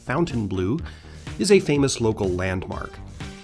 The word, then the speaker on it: Fontainebleau: Miami Beach's Fontainebleau Hotel, pronounced by the locals as Fountainbleu, is a famous local landmark.